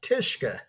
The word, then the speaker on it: Tishka: name is tishka it's a Polish name and it rhymes with Fiska and uh uh like